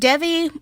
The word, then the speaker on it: Devi: The other character is a girl named Devi, or Devi. I heard her name pronounced as either, I'll just stick with Devi.